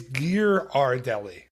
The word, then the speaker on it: Ghirardelli: I looked up how to say it, how to pronounce it, and we're both wrong. Okay. It's Ghirardelli.